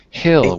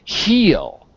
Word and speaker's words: hill: Not pink heel, because heel would be green. Heel, that would be green. That is spelled H-E-A-L, heel. Okay. You, Okay. H-I-L-L, is hill, Hill.